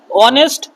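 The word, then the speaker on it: honest: উদাহরণ লিখে রেখেছি দেখো অনেস্ট অনার আওয়ার ইয়ার অনারি তাহলে যদি আমি এই এইচ উচ্চারণ না করি বা এই শব্দগুলো দেখো এইচ এর কোন উচ্চারণ হচ্ছে না এইচ ও এন ই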